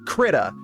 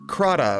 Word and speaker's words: Krita: So what I was referring to earlier is a little program called Krita, or Krata, or Krata? I don't know. I call it Krita. I don't know if that's the proper way to pronounce it. Yeah, Krita.